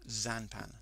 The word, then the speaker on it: Xanpan: If you cross the two together, you get Xanpan, pronounced Xanpan. The X becomes a Z when you pronounce it.